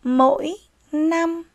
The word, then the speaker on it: mỗi năm: theo đó là từ mỗi năm khi đọc từ này các em lưu ý tiếng 5 chúng ta phát âm là n mỗi năm mời các em